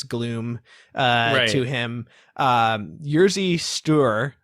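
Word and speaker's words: Jerzy: uh to him um jersey stew how do you pronounce that by them it's pronounced yejah yejah yes store it's the polish equivalent of george okay uh both of these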